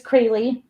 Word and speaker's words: Crayle: psychic twins right um well my name is crayley and so if you see it spelled down there and pronounce it the way it looks like it